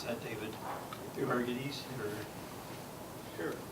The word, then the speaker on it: Euergetes: Could you, how do you pronounce that, David? Euergetes? Sure. Euergetes.